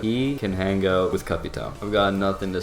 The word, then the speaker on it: Capitão: Stop pronouncing his name as Capiteo. It's Capitão. I don't even have anything to say for you.